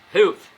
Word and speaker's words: health: Health, eu não sei a pronúncia correta, tem que falar com a língua entre os dentes, né? Health.